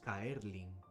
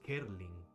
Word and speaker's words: Kerlin: Mi nombre no es Kaerlin. Mi nombre es Kerlin.